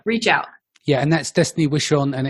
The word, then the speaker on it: Destaney Wishon: Yeah, and that's Destaney Wishon, and it's spelled Destaney.